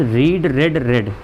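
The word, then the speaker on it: read: आपको रेड ही बोलना है यहाँ पे। अगर हैव और हैज़ देख रहे हैं तो रेड बोलेंगे आप, रीड नहीं बोलेंगे, गलत माना जाएगा।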